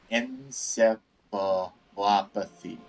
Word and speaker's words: encephalopathy: So was this acute encephalopathy? Medical terminology. Encephalopathy. Encephalopathy? Encephalopathy.